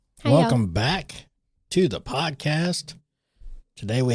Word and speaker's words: Botha: Today we have Allison Ba or as I pronounced it was Botha. I said Ba. So you said Ba. Either way, I mean, you know, but I think the correct way was BA.